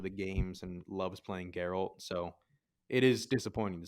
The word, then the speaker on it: Geralt: It's Geralt. It's not Geralt. Yeah, Geralt. I thought it was like Gerald, but No. with a T. It's spelled like it, but it's not.